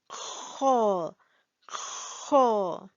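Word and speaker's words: خ: Here we have ha, and here is, yes, you need to accumulate saliva and make the sound kho, kho.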